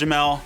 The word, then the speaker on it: Jamal: Spelled Jamal, pronounced Jamel.